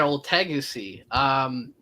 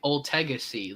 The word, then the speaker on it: Ultegacy: You can find me at Old Tegacy. It's ULTEGACY, Old Tegacy. Let me pronounce it for you a third time, Old Tegacy.